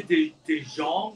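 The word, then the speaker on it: DeJonge: And Olivia DeJong, I think her name is pronounced, as Priscilla.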